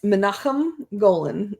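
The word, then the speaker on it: Menahem Golan: And I'm going to let Lacy uh properly pronounce these names. Ah, okay. So, it's Manakahim Golan and Yorum Globus.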